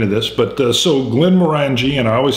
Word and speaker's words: Glenmorangie: at the end of this, but uh so Glenn Morani and I always say, did I say the name right? I used to say it wrong. Morangji. Moreni. Glenn Moreni.